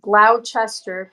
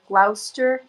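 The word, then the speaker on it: Gloucester: The other what is the other town in England that I'm like there's Glouester, which looks like Glowchester. Glouster.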